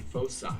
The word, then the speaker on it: foci: one, it's actually foci. Like in Latin.